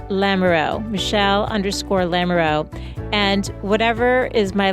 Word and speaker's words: Lamoureux: 1 L _Lamoureux, and that's spelled LAMOUR, like the word hour, for X-ray, Lamoureux, Michelle_Lamoureux.